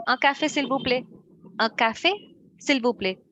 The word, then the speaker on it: s'il vous plaît: But yes, if I pronounce it very slowly, s'il vous plaît. But yeah, if Okay. I pronounce it like a proficient or a native speaker, s'il vous plaît, s'il vous plaît.